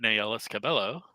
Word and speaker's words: Nayelis Cabello: I'm gonna say it Nayelis Cabello because I asked her as well. How do you pronounce your name? And that's what she gave me.